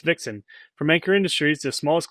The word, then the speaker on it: VXN: Meet the VXN, pronounced Vixen, from Ankor Industries, the